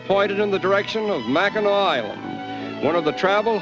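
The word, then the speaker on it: Mackinac: Incidentally, when we first arrived on this unique island, we called it Machinak, but we were informed that the correct pronunciation is Macheno, as it is the French derivation of the original Indian name.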